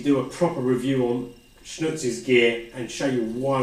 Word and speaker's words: XNÜTZ: their branding on it, pronounced XNÜTZ, obviously spelled XNU, or the German U with the 2 dots, TZ, XNÜTZ. But if we got rid of the X, you would just call it nuts, because this item is actually quite nuts.